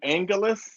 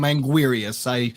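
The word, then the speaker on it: Anguirus: I call him Angulus. What do you call him? I call him Angulus. I go with the L. I don't call him Anguirius.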